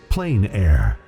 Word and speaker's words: plein air: which means open air or outdoors the French pronounce it plenary plein air no matter how you say it there is